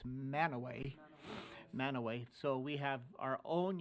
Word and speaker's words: Mantua: When you get to Cache County, it's not Mantua, it's Manaway.